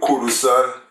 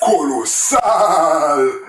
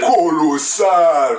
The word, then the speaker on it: Kolosal: Kolosal. That's his name? Kolosal. Kolosal featuring D Joyce. Like he's like Colossal? Colossal, yeah.